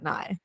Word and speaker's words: Nye: guest his name is NY am I pronouncing your name right NY yep r hi and by it's great great